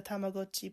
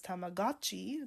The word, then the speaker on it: Tamagotchi: I know that in the 90s, the pronunciation was Tamagotchi. That was the common thing to say, because it does look like gotcha, I get it.